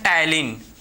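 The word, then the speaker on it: ptyalin: इसका एक और नाम है, इसको एक और नाम से जाना जाता है जिसको बोलते हैं टायलिन, ठीक है, टायलिन, समझे, टायलिन भाई, पी आपका साइलेंट होता है, ठीक है, तो इसे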